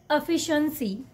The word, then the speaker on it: efficiency: espresso espresso this one efficiency efficiency don't just stretch every syllable okay just try to make it little simple okay the correct way to say this word is efficiency efficiency this one okay I